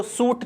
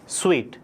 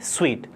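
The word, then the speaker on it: suite: क्या बुलाते इस यूआईटी अब इसको सूट नहीं बुलाते इसका सही प्रनंसीएशन है स्वीट देखिए स्पेलिंग तो है एस यूआईटी लेकिन बुलाते क्या है स्वीट तो इसके क्या होता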